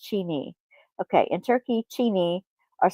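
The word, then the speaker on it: çini: Or I'm not sure how to pronounce that correctly. Kini? Cini? Imagine colorful tiles that tell stories and decorate buildings like pieces of art. That's what the Turkish That's what makes Turkish pottery so amazing. In Turkey, oh, chini. It's pronounced chini.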